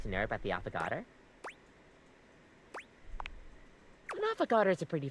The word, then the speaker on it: affogato: Is there anything you'd like to know about the affogato?